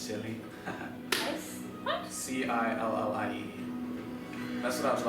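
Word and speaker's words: Cillie: This is Silly. This is the dragon that you believe you saw, and my friend. Silly, by the way, is spelled C-I-L-L-I-E, but pronounced Silly.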